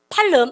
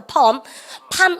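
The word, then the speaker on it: palm: 팔름 아니에요. L 묵으면 발음에다가 팜 업워드 그러면 뭐야?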